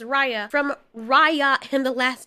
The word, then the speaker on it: Raya: about raya i know i kept calling her rhea her name is raya from raya and the